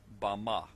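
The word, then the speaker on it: בָּמָה: in the Strong's Hebrew dictionary and it is pronounced Bama. Bama is most commonly used to refer to a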